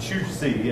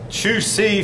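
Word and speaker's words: Zhu Xi: Now that's pronounced Chu Si, if I understand the pronunciation.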